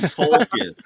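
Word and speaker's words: Toklas: It's actually Tolkis.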